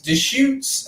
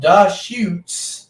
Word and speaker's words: Deschutes: four carbs 99 calories de shoots out of oregon the the beer is called da shoots yeah so it's deschutes oh you have to see it it's a it's a visual punch oh yeah it's spelled differently sorry yeah the allergies